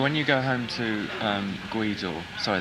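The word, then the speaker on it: Gweedore: So when you go home to Guido, sorry, that could be pronounced completely wrong. That's Guido, yeah.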